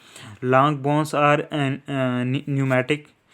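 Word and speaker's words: pneumatic: होता है ठीक है ना lung bonus are न्यूमेटिक पी एन ई यू M eighty ए ठीक है लंग बोनस जो है एवस में ठीक है यह न्यूमेटिक होती है means contain air cavities to reduce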